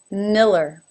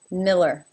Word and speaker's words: Miller: second syllable Davis Miller the first syllable has an e as in sit new and it ends in an L and when it ends in an L that is considered a dark L which means we kind of slide through an uh sound before we finish it off with the el nil nil and the second unaccented syllable is simply her Miller Miller number eight